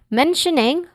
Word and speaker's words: mentioning: Mentioning has three distinct sounds starting with men which is stressed syllable here.